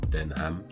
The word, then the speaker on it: Denham: history of the brand denim den ham i think it's pronounced which is a dutch